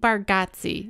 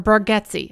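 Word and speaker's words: Bargatze: show yeah me too nate bargatsi or bargetsy i think you pronounce it bargetsi but it looks like bargazi he is from tennessee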